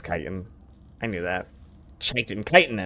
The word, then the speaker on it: chitin: the chit chatin chitin isn't it pronounced chitt is it kitan I can't remember kitan right okay it's kitan I knew that tiitan